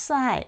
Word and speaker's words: psi: is pronounced phi, and the second one is pronounced psi.